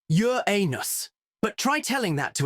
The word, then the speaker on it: Uranus: William Hershel discovered Uranus, a planet that expanded our understanding of the solar system and gave generations of school children a lifetime supply of loweffort jokes. Yes, it's pronounced Yur anus, but try telling that to a 12-year-old or